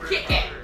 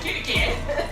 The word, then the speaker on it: Kit Kat: Kit Kat. Don't say Kit Kat. Kit Kat. Kit Kat. Not Kitty Kat.